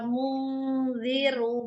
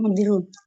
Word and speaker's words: munziru: Dirunya pendek. Munziru.